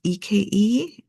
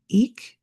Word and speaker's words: Eke: Um, and that's eke eek. It might have a different pronunciation. Uh, let me know if it does. Um, but I'm just going to go with it.